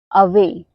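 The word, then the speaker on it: away: ए डब्लू ए वाई अवे ए Y last में आया हुआ है तो इसका उच्चारण हम क्या करते ए करते हैं तो क्या बना अवे अवे मतलब होता है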